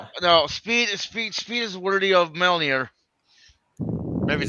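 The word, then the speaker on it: Mjölnir: you pronounce that. Mjolnir.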